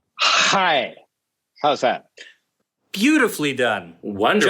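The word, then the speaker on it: chai: Could you please pronounce the letters C-H-A-I for us? And we don't mean like the T. Hi.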